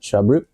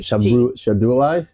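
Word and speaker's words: Cherbourg: How do you spell it? Shaboo. Okay. I don't spell French. How do you spell it? C H E R B O U R J. Sorry. Shabu.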